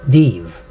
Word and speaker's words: div: three different ways too just pronounce it div as in Steve soin or Telltale slanderer